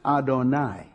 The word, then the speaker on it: Adonai: We pronounce it Adonai.